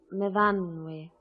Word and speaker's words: Myfanwy: We pronounce it Myfanwy.